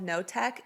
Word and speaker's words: Knotek: It's about Michelle Notek, and her last name is spelled Knotek.